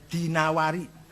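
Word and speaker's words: دينور: Jangan Ad-Dainuri bacanya, Dinawari. Jangan Ad-Dainuri, nggak ada kota Dainur, ada Dinawar.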